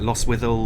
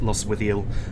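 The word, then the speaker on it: Lostwithiel: that correctly something like lost with all lost loss with eel i think the t is silent if i remember correctly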